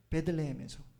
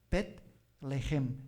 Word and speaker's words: 베들레헴: 그 베들레헴에서, 그렇죠? 아이가 태어나는 거죠. 엄격하게 히브리말을, 우리말은 베들레헴 그러는데 엄격한 히브리말 발음은 벳레헴, 삼음절이에요.